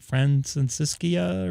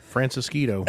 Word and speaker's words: Francisquito: 10 frat I can't I can't pronounce the name of the street francisa or something like that yeah francisquito that's it francisquito I am losing my